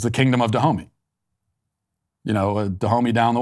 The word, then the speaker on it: Dahomey: kingdom but i mean it's spelled d-a-h-o-m-e why so i think it's pronounced to homie so it's the kingdom of dahomey you know dahomey down